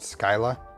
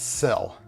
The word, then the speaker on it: Scylla: Dave pronounced it Scylla. It's Scylla of some sort. That's how Big Tree Text pronounces it. It's not SK. It's not Ska. It's Sil. Hey, Joey.